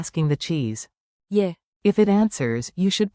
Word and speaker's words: je: Say it like a quick, soft, yay. Je. With rising intonation, think 2 ascending notes.